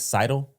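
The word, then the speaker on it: Sydel: When I introduced Dale Curry, I said Steph's dad, and I should have said Steph, Seth, and I believe it's Seidel. Is how you pronounce it.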